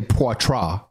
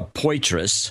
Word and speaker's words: Poitras: where Poitras and where I heard someone say port raw watch Russia God's a what Laura Poirot maybe